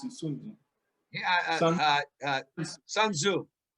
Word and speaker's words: Sun Tzu: I pronounce it Sun Tzu.